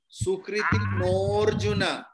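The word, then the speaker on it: सुकृतिनोऽर्जुन: Chaturvidha bhajante mang jana sukritina arjuna. No. Sukriti norjuna. Sukriti norjuna. অবগ্রহ আছে তাই আগে ও আছে ওটা লম্বা উচ্চারিত হবে Sukriti norjuna.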